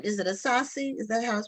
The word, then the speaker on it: Asase: okay and um your last name is it a saucy is the house pronounced yes that's awesome okay well I did